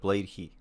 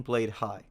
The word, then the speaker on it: Blade: Hi: the gear to get the most out of blade heat now first off its recently come to my attention that I've been pronouncing it wrong in my videos and been saying blade hi so for anyone else who doesn't know it's